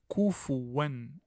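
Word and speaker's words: كُفُوًا: En fait, ça ne se lit pas de cette façon. Ça se lit avec une damma. Vous devez faire apparaître la damma. Kufuwan.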